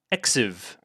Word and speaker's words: XV: Season 5, which is XV, is supposed to be pronounced Exiv.